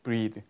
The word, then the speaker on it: breathe: 그리고 얘는 발음도 breath, breathe. 그렇죠? 약간 특이한 경우라서 한번 알아두시라고.